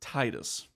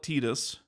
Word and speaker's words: Tidus: upset about the name we are just going to pronounce it Titus okay we know that some other people like to call it tetus it doesn't matter regardless